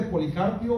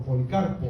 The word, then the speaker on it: Policarpo: ¿Se acuerdan que les hablé de Policarpio? O algunos lo pronuncian por Policarpo, ¿verdad?